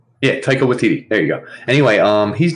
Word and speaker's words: Taika Waititi: How do we pronounce his name? Taika Waititi? Yeah, Taika Waititi.